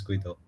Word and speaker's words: Guido: little bit of an introduction about who is Guido.